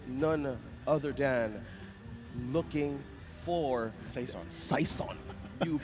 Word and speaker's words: Saison: Well, speaking of which, let's pull up our MVP for this game, and it's none other than looking for Saison. You pronounced it correctly.